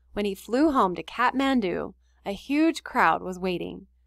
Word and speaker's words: Kathmandu: that we are looking at a picture of kathmandu that's how to say it right here in